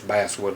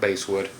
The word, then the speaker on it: basswood: see Birch and Basswood it is not pronounced baswood it's Basswood like the fish Okay so if you know your Woods um you'll know that it's actually Basswood not base wood the serial number will